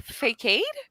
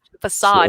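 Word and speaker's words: façade: and what was it i i pronounced uh facade wrong and i was telling my mom and i was like yeah it was like a fake and she goes what did you say and i was like fake aid because i pronounce things in my head and it sounds right you know she goes facade and i was like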